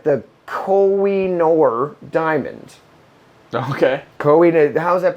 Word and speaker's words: Koh-i-Noor: So we're going to talk about what looks like the Koh-i-Noor diamond. Okay. How's that pronounced? The Koh-i-Noor diamond. Koh-i-Noor diamond.